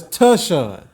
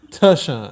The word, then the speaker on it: Tashaun: But anyway, man, so it's Tashaun. Tashaun. Yeah, tuh. Like what they say on Twitter, like TUH, tuh.